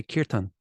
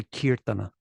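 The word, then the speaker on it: कीर्तन: a lot of like if an Indian says kirtan they say kirtan they don't say kirtana it doesn't mean that it's right if you want to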